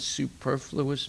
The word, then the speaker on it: superfluous: you know that word superfluous means no okay write this down su PE r su PE r super su PE r but when it's in this word is pronounced superfluous and then second part